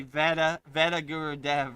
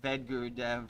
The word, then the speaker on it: Vedagurudev: A lot of people say veta vet guru dev, right? You know, the a is silent. V guru dev.